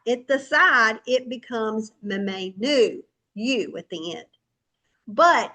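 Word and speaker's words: ממנו: And this word is actually mamenu, okay? And it's spelled mem, nun, vav. Mem, nun, vav. Okay, mamenu.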